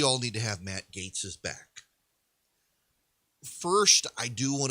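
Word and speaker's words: Gaetz: gates story you know i've always said matt gatz and uh multiple people told me it's actually it's pronounced gates uh the gates way to hell i i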